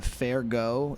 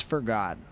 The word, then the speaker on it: F'Ergot: Is the pronunciation uh fair go? It's uh it's forgot. It's forgot. It's not fancy. It's just like it's that we didn't want to write uh forgot. So, it's forgot.